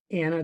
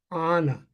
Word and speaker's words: Anna: immediately she said no no no no that is not Anna that's Anna and she said if you're going to talk to kids you might as well learn how to pronounce it right and I said Thank